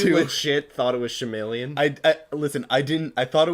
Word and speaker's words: Shyamalan: Night Shyamalan, I can't pronounce Shyamalan. it. Shyamalan. M. Night Shyamalan. Shyamalan.